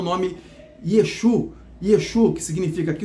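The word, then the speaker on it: ישוע: Aí esse nome que você conhece hoje, Yeshua, esse A no final, né, que essa letra em hebraico, né, que ela tem a pronúncia de A, Yeshua, significa que o seu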